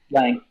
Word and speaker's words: Lange: as good in my mind as, say, Mutt Lange, or Lange, or however you say his name. Lange.